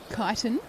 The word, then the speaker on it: Kyneton: Kyneton.